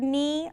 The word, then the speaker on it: knee: to find the word knee under the letter N? Nope. Why not? Well, because it's spelled with a K as a silent letter and then the N.